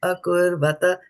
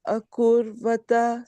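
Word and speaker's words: अकुर्वत: Kim akurvata.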